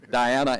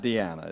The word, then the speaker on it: Diana: And it's Diana and not Deanna, is that correct? You got it.